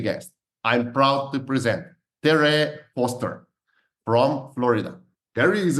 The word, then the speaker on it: Tere: Well, let me just say right away, my name is Tere, so it kind of rhymes with hooray.